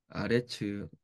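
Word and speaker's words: הארץ: 하 하에다가 지금 여기 아레츠라고 써졌는데 원래 이제 아래치 에레츠예요. 에레츠인데 여기 붙으니까 아래치 하 LH가 발음하기 좀 힘드니까 하 RH로 이렇게 바뀐 거예요.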